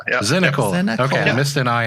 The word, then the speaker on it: Zinicola: There's another syllable in there. It sneaks in there. It's Zinicola. Yep. Zinicola.